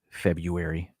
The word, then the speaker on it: February: say wednesday it's like uh february just say february and you're you're fine nobody cares you don't have to pronounce every letter although i like to i